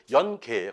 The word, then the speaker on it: 연계: 어, 그것이 사실은 연계예요. 그래서 연계 백숙 이렇게 이제 우리가 어, 먹지요. 근데 이것이 발음이 쭉쭉 하다 보니까 연계 아니 뭐 젊어 영이야 그냥. 음, 영어로 어, 젊은 닭 말이 안 되는 거죠.